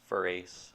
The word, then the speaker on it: Farace: It's Farace. Farace? Yeah, here in Italy, Farace.